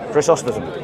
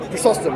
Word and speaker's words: Chrysostom: Yeah, is that how you pronounce his name? Chrysostom. Chrysostom.